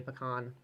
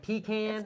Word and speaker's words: pecan: how do you say pecan is it pecan pecan is it pecan pecan guys okay pecan that's how you say it and I love pecan